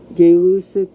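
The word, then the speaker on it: Gay-Lussac: work of Charles and gay lucic's that's actually how you say his name gay Lucid to establish and so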